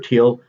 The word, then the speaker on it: Thiel: Talking about regarding Peter Thiel, and yeah, his name is pronounced Thiel, not Thiel, but whatever.